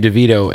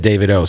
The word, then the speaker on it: Davido: Yo, you just pronounced your name Dvito. And I have always said that, but when I first met you, you said David O.